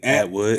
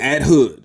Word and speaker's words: Atwood: sounds so good yo hey atwood at hood okay that's how you gotta say it right if you don't say